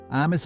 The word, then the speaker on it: amis: Amis on its own, no S sound at all.